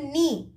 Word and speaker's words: knee: silent when we tell knee k-n double e me we are not pronouncing the k k is silent wrong r o n